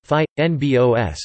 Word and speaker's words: fynbos: Fynbos, Afrikaans pronunciation, phi, nbos, meaning fine-leaved plants, is a small belt of